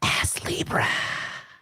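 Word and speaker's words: Astlibra: that's the correct pronunciation ass Libra you have to whisper it you gotta you gotta make sure you pronounce the T though because it's like it's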